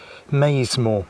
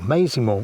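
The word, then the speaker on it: Maisemore: I'm looking like it'll head down to Maysmore, or Maysmore, whichever way you want to pronounce it, following the West Channel,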